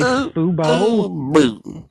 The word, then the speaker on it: Fubo: We were making fun of the Fubu, but it's really Fubo, like football. You know what? I don't know. If anyone's on here, they need. Is it Fubu or Fubo?